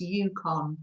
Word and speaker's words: Yukon: i say it wrong it's pronounced yukon thank you just below